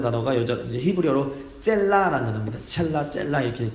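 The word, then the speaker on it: צלע: 첼라 이렇게 발음이 되는데 이게 그냥 옆구리 갈빗대로도 이제 그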